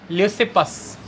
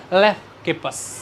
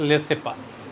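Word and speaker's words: Leucippus: Democritus, और हुए हैं ल्यूसिपस। अब कहीं कहीं पर इनकी प्रोनाउंसिएशन ऐसे भी आ जाती है, लेफ्किपस, लेकिन मेजॉरली मिलेगी इट्स ल्यूसिपस।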